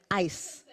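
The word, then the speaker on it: Ais: How do you pronounce it? A-Y-S. ICE. ICE.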